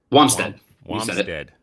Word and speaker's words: Wamsted: how do you see your last name jay wamstead i said it right yeah uh an educator